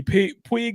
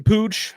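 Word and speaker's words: Puig: Ricky Pig is still out. I'm sorry, Ricky Pooge. I I always say it wrong. Ricky Pooge is still out.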